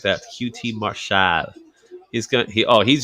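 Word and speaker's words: QT Marshall: you gotta say his name just like that QT marshad he's gonna he oh he's just getting hammered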